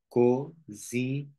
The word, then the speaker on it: cozinheira: Nhe. Like a dog. Você é uma cozinheira. Nhe e ra. So you see, I break here in these syllables. Oh, it's like one, two, three, four, five. Cozinheira. Cozinheira. Cozinheira. Cozinheira. Just like music.